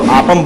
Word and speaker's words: aapam: तो ये खा रहे हैं अपम स्ट्यू, सॉरी इसको अपम नहीं बोलते, इसको आपम बोलते हैं, डबल ए आता है।